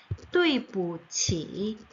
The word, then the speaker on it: 对不起: 두이가 아니라 또이입니다. 또이, 그 다음에 부, 치입니다. 또이부치, 또이부, 또이부치, 또이부치, 对不起, 네, 이렇게 해서 미안해요.